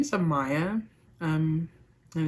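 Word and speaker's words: Amiah: so first off my name my name is Amaya um and it's spelled a-m-i-a-h everybody usually just calls me Maya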